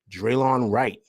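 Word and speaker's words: Delon Wright: a deal with the Milwaukee Bucks that sent Draylon Wright, that's how you pronounce his name, I apologize, to the Knicks for Jericho Sims, and the Knicks get Draylon Wright and some cash.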